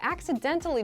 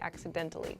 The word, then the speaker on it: accidentally: situations negative coincidences i accidentally deleted my portfolio and with this pronunciation i'm saying it really clearly accidentally accidentally but in fast speech we say accidentally accidentally i accidentally deleted my